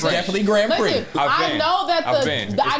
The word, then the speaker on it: Grand Prix: no we just laughing cuz you called it Grand Pricks and I've never oh p no Grand Prix Grand called Grand P off